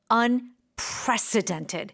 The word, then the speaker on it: unprecedented: And the accent is on unprecedented.